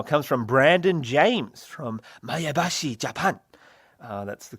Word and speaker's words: Maebashi: Today's viewer mail comes from Brandon James from Maebashi, Japan. That's the correct pronunciation.